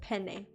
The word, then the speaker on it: penne: the E at the end is pronounced like the E in hay. And the emphasis is placed on the first syllable. Okay, so it's penne.